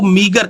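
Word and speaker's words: meager: opposite है या इसका जो एंटोनियम है वो मिगर कहते हैं इसकी जो प्रोनंसिएशन और इसकी स्पेलिंग देख लो एम ई ए जी आर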